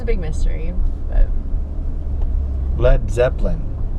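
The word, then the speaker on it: Led Zeppelin: a big mystery but lead Zeppelin it's actually lead as in a heavy metal but they spelled it led so people would say it right instead of saying lead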